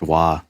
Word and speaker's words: Roy: a second guitar player if he's canadian it's pronounced wah you should know that